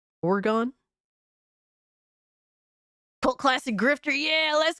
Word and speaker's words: Oregon: appreciate you pulling up why does someone who's not from Oregon pronounce it wrong there is no a so it's Oro or oron oron orgon cult classic grifter yeah